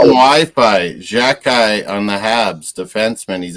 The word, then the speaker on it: Xhekaj: How you pronounce his name? Xhekaj.